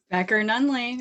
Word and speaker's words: Becker-Nunley: Becker-Nunley. It's all a long one. I'm one of those people that pronounces everybody's name wrong, and then I have